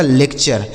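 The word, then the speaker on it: lecture: यह लिखा गया आपका लेक्चर क्या लिखा है मेरे भाई लेक्चर ठीक है ना तो टी यू आर ई का उच्चारण क्या हो गया चर जैसे नेचर फ्यूचर कल्चर लेक्चर तो उम्मीद कर रहा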